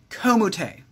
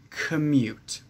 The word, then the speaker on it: commute: this word is pronounced commute the o does not make an o sound in this word the o makes what we call the schwa sound the schwa sound is